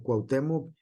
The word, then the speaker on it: Cuauhtémoc: Porque así es lo correcto, no le decimos Q o Cua, sino Cuau, ¿sale?